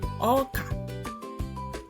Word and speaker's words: oka: Now, children, here comes maize or corn in English, but in Igbo it's called oka.